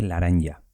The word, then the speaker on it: laranja: Pues se dice laranja. Con L y con J también, pero se dice laranja.